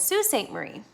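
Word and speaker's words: Sault Ste. Marie: mission in northern michigan they built it at st marie which we pronounce most of the time as sault ste marie because it is french a mission was a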